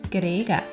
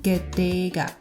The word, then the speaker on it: ကတည်းက: Even though the first and last consonant of this word, ga, is the same, the sound is slightly different. Can you hear that the